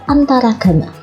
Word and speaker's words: antaragama: Walaupun cara membacanya tidak digabungkan. Jadi cara membacanya tetap antar agama, tetapi penulisannya antaragama.